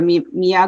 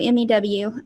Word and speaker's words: Mew: So it's Meow Cat Rescue, MEW. A lot of people say meow, but it's like a meow, but a mew is what I tell people.